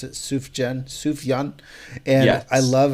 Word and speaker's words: Sufjan: I love Sufjan Stevens. I think that's how you pronounce it. Sufjan.